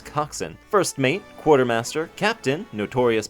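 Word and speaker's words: coxswain: I know how to pronounce coxin.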